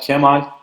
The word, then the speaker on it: Kemal: It's really hard to pronounce for foreigners, but it's pronounced like Kemal. I don't know why, but Spanish people pronounce it perfectly, but the others are not so good.